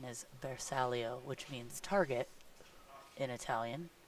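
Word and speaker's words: bersaglio: it looks like that's going to be a versalio also the correct pronunciation is bersalia which means Target in Italian yeah Michael corrected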